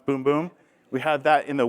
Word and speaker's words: Bum Bum: brand so you have the boom boom cream that's how you say it it's not bum bum it's boom boom we have that in